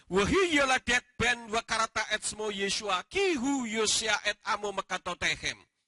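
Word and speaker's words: ישוע: Tapi kalau Yod digabung dengan sin waw ayin, membacanya jadi Yeshua, tidak pernah membaca Yasua.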